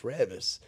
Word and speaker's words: Reavis: And like I was like, hey, look, see, like, she thought my name was Reavis. I'm like, no, it's Reavis.